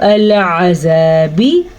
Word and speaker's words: العذاب: سوء العذاب، ال اور یہ کیا ہے؟ العذاب، مد کا دھیان رکھنا ہے، مد کو لمبا کر کے پڑھنا ہے.